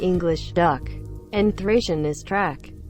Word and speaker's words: trac: In Romanian, Dacian is dak, pronounced like the English duck, and Thracian is track, pronounced like the English truck.